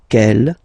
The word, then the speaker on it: quelle: And the good news is that you will pronounce them the same way. Alright, so quel, quelle, quel, and quelle.